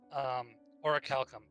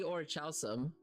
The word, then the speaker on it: Orichalcum: So, but I'm curious, what is the actual pronunciation? Orichalcum. And It is guess what? It's the exact same thing in Skyrim.